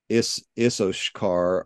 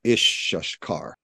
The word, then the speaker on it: Issachar: I was looking at one, like it's whether you pronounce Issachar, like Issoshkar or Ishashkar, things like that.